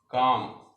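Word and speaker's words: calm: काम, काम में एल साइलेंट होता है।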